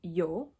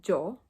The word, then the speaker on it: yo: saying yo instead of Joe and Aya instead of Eda usually the way that Spanish speakers pronounce the Y and the Double L is by having their upper teeth and their lower teeth touch so first I'm going